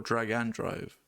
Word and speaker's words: Drag x Drive: Drag X drive or drag and drive, however you want to say it.